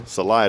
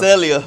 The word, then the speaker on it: Celaya: Celaya, did I say that right? Yes, sir. You Celaya? said it right. Celaya, Toyota. Not Celia.